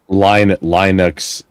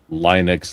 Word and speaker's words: Linux: Linux. So it's two syllables. Linux.